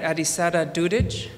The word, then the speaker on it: Adisada Dudic: And I didn't get a chance to ask you, but I hope I'm pronouncing it right. Adisada Dudic?